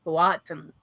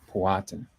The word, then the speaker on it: Powhatan: And some people say Powhatan, but as I understand it, the emphasis for native language is Powhatan. Powhatan.